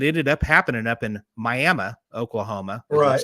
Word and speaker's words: Miami: this thing had ended up happening up in Miami Oklahoma like it's Miami Oklahoma but it's pronounced miam and that's halfway between here and